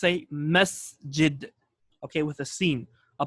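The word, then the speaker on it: مسجد: is not a message it okay or a Masjid rather it's a Masjid okay with a scene a place for sujood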